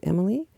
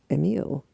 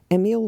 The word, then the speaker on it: Emile: And clarification, Emile is the boy. It is not Emily. I think it's pronounced Emile.